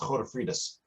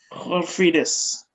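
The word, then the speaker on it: Godefridus: It's the Dutch version of Godfrey. It's pronounced Godefriedus. Godefriedus.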